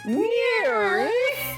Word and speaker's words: NIIRYF: Those are the letters for the name of the show, and it's pronounced Near.